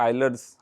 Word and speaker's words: Euler: में पढ़ना शुरू किया, आइलर्स आइडेंटिटी इसको बोलते हैं, हम लोग बचपन में यूलर बोलते थे क्योंकि स्पेलिंग उसके EULER है, हमको बहुत बाद में पता चला, बहुत बाद में नहीं, अभी पता चला।